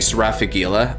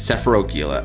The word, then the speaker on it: Sephila: uh that s uh sephila is pronounced like sephar ff7 oh cuz I'm saying sfag Gila but it's sephila okay that's what it